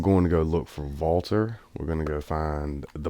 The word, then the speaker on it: WALTER: in Walter I stayed Walter but a lot of people have corrected me it's not a V but that's how Germans pronounce the W because they don't have